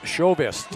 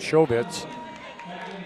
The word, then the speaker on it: Chauvist: So it's Chauvist is what how you pronounce that, Chauvist.